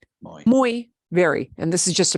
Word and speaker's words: muy: this in Peru okay so if Y is the very last letter of a word it'll make the sound like exactly like this vowel e okay if Y is the last letter of the word it'll sound like that but if y comes